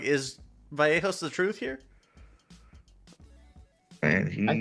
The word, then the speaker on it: Vallejos: I'm not gonna pronounce it the way you Argentines do. It's a fucking Y, not a J sound, you motherfuckers. Kevin Vallejos ends.